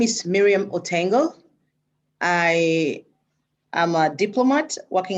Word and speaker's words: Miriam Otengo: We've just been joined by Miriam Otengo, if I'm pronouncing it correctly.